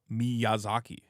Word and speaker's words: Miyazaki: of anime ha Hao wait how would you pronounce that ha Miyazaki oh Miyazaki Toro guy the Toro guy he